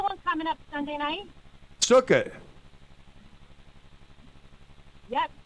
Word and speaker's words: Sukkot: How do you pronounce it? Sukkot.